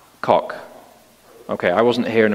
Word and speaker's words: Koch: And the first version of the Equality Act was brought before Congress in 1974 by what do you pronounce his name, Koch or Coach? Koch.